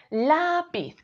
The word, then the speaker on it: lápiz: mí esa sílaba tónica y por último vamos con lápiz si creemos que la sílaba tónica es la decimos lápiz y si creemos que spears diríamos lápiz la manera correcta de pronunciarlo es decir lápiz con la sílaba tónica en la como veis estas sílabas